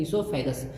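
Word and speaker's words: oesophagus: ईसोफेगस, यहाँ पे ओ silent है, सब लोग ध्यान देंगे, ओ साइलेंट है, इसको कहते हैं ईसोफेगस या फिर फूड पाइप।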